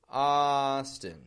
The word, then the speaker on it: Austin: And notice again the contrast in the syllable stress. Austin, strong, weak.